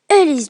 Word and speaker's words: Helix: Le jeu, donc je le rappelle, s'appelle Ellis Jump. Donc ça s'écrit H-E-L-I-X et Jump, donc comme dans mon nom.